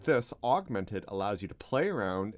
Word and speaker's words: Augment3d: ETC's Augmented, it's pronounced Augmented not Augment 3D, but it's got the 3D in the name.